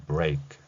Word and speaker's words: break: 이 단어는 B하고 R이 겹쳐 있습니다. 또한 A, 키읔, E 이렇게 연결되는 발음을 가지고 있죠.